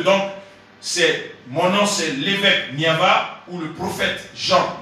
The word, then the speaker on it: Niava: Donc mon nom c'est l'évêque Niava ou le prophète Jean Niava. Donc Niava s'écrit avec N-I-A-V-A.